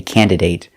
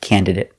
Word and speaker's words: candidate: I've heard Americans say candidate, but it doesn't sound right and it doesn't follow the rule. So, pronounce it candidate. It sounds better.